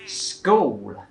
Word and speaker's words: school: แต่ที่จริงมันต้องออกเป็น sweat ก็คือเป็นพยางค์เดียวไปเลยนะคะโอเคต่อไปคำที่6นะคะคือคำว่า school Thais will pronounce as school it's very much the same as the last one but I hate this GIF because it should be a word that everybody knows in English I know but no matter what age everyone still says school no one syllable school โอเคก็เหมือนกับคำเมื่อกี้เนาะก็เป็นควบกล้ำเหมือนกันก็เป็นแค่พยางค์เดียวเลยค่ะ school นะคะจะไม่ใช่ school